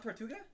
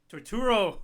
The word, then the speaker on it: Turturro: John Tortuga? Torturo.